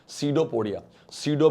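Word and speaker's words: pseudopodia: पुरी अभी कहते हैं सी ऑफ पीस साइलेंट है बेटा सी दो पोडा कल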